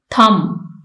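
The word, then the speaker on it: thumb: यूज किए गए हैं थम इसमें बी साइलेंट है शुड इसमें एल मेंशन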